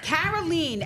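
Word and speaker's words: Karoline: a little bit but carolene Le carolene and you know how I know how to pronounce that name it's because I have a friend named kolene so Caroline love I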